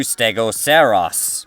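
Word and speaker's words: Stegoceras: very similar to stegoceros no that's not a mispronunciation of Stegosaurus so trodon was thought to be a dome-headed dinosaur similar to stegoceros hence the mixed naming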